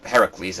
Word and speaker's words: Heracles: is it well anyway Hercules or Heracles as it's properly pronounced is in the Underworld